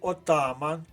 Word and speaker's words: отаман: наша правильна відповідь перевіримо мережа і отаман обидва слова мають наголос на другому складі правильна відповідь в позначили